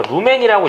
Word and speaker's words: 루멘: 이게 이제 루멘이 그러니까 LM 요걸 저희가 루멘이라고 읽어요.